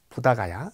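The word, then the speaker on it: 보드가야: 세월동안 행했던 고행을 버리고 보드 가야 부다 가야 라고 발음하는 곳에 보이스 나무아래 앉아서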